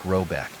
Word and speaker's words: Rabuck: The manor house, or hergård, in question is to be called Rabuck, pronounced something like Robeck, though that is not its name.